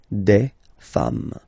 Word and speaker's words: femmes: singular form and then you just add this S at the end, and as we said, you don't pronounce it, so you get des femme, okay? Des femmes.